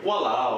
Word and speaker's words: walao: A quick one is walao, which walao. So say it with me, walao. Walao. Which, depending on the tone of how you say it, could mean any number of things.